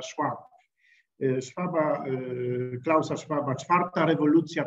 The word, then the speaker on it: Schwab: Właśnie Taleba Czarny Łabądź, właśnie Szwaba, wymowa brzmi z angielska Schwab, Szwaba, Klausa Schwaba, Czwarta rewolucja przemysłowa.